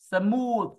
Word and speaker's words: smooth: smoth smo smoo smoo Smooth đó cứ chữ U kéo dài ra là đúng không có